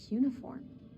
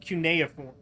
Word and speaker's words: cuneiform: it's ancient oh that's uniform that's not how you pronounce that is it i've always heard that pronounced cuneiform what is this place